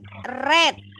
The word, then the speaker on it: read: read red. Oh, jadi kalau dia membaca kata kerja keduanya tulisannya sama tapi cara bacanya beda. Kalau dia kata kerja pertama kita bacanya read.